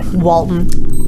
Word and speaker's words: Walton: love that Walton goggin that's the Canadian way to say Walton Walton goggin yeah exactly